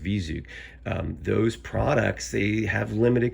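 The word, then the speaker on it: V-ZUG: It comes from I believe it's pronounced Vizug.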